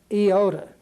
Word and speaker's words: iota: DOT over it it's Iota is the way it's pronounced and it has more of an e sound than it does an a sound or an i sound but it's going to